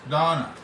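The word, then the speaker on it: Dona: It's pronounced Donna, it's D-O-N-A, pronounced Donna.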